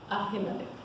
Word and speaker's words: Ahimelech: So the king sent to call Ahimelech. How do you say it, Sharon? Ahimelech, the priest, the son of Ahitub, and all his father's house, the priests who were in Nob.